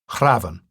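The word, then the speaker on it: hrafn: The word used in Icelandic to this day, Kraven, with the F pronounced as V, is likely to be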